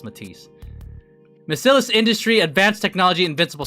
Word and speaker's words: MATIS: Did anyone think it was pronounced Mattis? Cuz I I for the longest time I pronounced it mattis until it was made clear that was Matis.